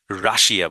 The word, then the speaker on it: Russia: দেখেন রাশা, রাশা, ইউ এর উচ্চারণটা আ, আর এখানে আইটা উচ্চারণে হবে না, আর এই যেহেতু ডবল এস এখানে আছে, রাশা, রাশা, হ্যাঁ, রাশা, রাইট?